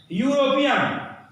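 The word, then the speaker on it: European: यूरोपियन, ई से है लेकिन यह यश हो रहा है, यूरोपियन। तो ये शब्द हैं useful, union, university, uniform, unique, one, यूरोपियन।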